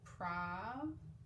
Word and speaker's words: probably: Probably. Probably. Now, when you're trying it out, you might say A or A, but in this word, it actually makes that short U sound.